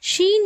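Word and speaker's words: شين: அடுத்ததாக பார்க்கக்கூடிய எழுத்து ஷீன் ஷீனுடைய மகராஜ் பிறப்பிடம் ஜீமுடைய மகராஜ் பிறப்பிடம் மாதிரியே நம்ம நாக்கினுடைய நடுப்பகுதி அதற்கு நேர் மேல்முரசு இருக்கு இல்லையா அதுல படும்பொழுது ஷீன் என்ற உச்சரிப்பு வெளியாகும் ஷீன் ஷீன் அல்ஹம்துலில்லாஹ் இந்த பாடத்துல ஹா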